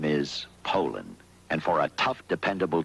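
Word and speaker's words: Poulan: And for over 30 years, they've been mispronouncing our name. Puland Pol. So, we'd like to remind you that our name is Poland.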